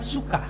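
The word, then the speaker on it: ψυχή: itu ya sor suka suka ada p-nya suka tulisannya PS u c e Tapi bacanya suka bahasa bahasa aslinya itu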